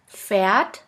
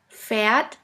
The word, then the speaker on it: Pferd: Now let's continue with the next letter combination, PF, which sounds like a puff sound. Here we have the example of the word Pferd, which means horse.